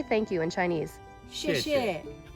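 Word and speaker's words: 谢谢: 谢谢，谢谢。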